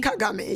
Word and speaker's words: Kagame: Kagame, yeah.